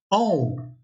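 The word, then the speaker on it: ॐ: So what is the pronunciation of this? And the pronunciation of this is aum.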